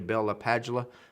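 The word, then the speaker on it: Bell–LaPadula: I think it's actually Bella Padula. I used to work with a gentleman, brilliant guy, that actually met or listened to him speak, and that's how he said he pronounced his own name.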